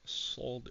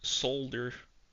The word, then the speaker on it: solder: going to remove some solder solder. Some people pronounce the L in solder.